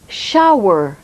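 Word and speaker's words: shower: baignoire back from patronne shawa douche remarquez bien que le ssh se prononcent jeu en anglais et que le haut se prononce à eau shawa shawa vous allez maintenant poser des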